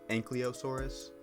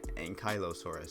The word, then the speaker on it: Ankylosaurus: It also kind of makes it almost look like an Ankylosaurus, which is apparently how that's pronounced. I've always said Ankylosaurus. Apparently it's Ankylosaurus, so do with that information what you will.